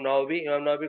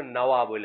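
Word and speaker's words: نووي: নওয়াবী, এটাতে যেহেতু ওয়াওয়ের উচ্চারণটা আমাদের দেশে অনেক সময় ব বলে বলে, এই জন্য নওয়াবী বলে আর কি, নাওয়া থেকে নওয়াবী আসছে আর কি।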